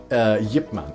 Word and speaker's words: Ip Man: a chance you know watch Yip Man it's it's spelled Ip Man it's really good and